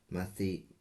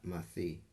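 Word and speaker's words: ܡܬܝ: In the Hebrew, it's Mathi. That's how we would pronounce his name in Aramaic, Mathi.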